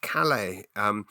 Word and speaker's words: Calais: you all back into Calais, which, by the way, is pronounced Calais.